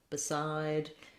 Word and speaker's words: beside: So behind is a similar, many other words that start with BE that are unstressed on the first syllable do the same thing. We have between, before, beside.